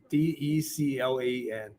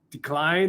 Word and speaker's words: Declan: D-E-C-L-A-N. When he was born, and said, how do you pronounce it? I don't want to call it decline or whatever. It's Declan.